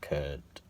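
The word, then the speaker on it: Kurdt: And I like how they've kept there's like a misspelling of Kurt here. They spell Kurt with a D before the T, so it's like Kurt.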